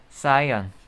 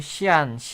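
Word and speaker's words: cyan: 그 다음에 청록색이라고 하는데 이 청록색은 이제 영어로는 사이언. 보통 어른들이 시안 이렇게 하는데 사이언이라고 해요. 영어식 발음으로는.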